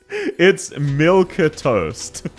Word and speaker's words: milquetoast: It's milk-toast. But it's pronounced milk toast, so everyone just spells it like you did.